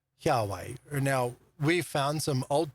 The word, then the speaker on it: Yahweh: Now we say Yahweh because that is the scholarly recognized way of pronouncing the Tetragrammaton, Yahweh.